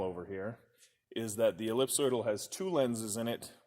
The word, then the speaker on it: ellipsoidal: have here on the table is called an ellipsoidal yeah it's a little bit of a tongue